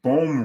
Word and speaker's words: Bohm: I bet on a bum, and Bohm rhymes with bum, so I should have known that right away.